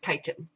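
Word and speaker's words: chitin: is spelled CH i t i n okay pronounced kiten and this is kind of crunchy and the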